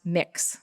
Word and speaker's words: Mx: or Mrs., and it's pronounced mix, M-I-X. That's how it's pronounced.